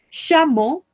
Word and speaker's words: chameau: Chameau, chameau, chameau. Camello, oui, chameau. Recordemos, esto se pronuncia como una O, estas tres letras.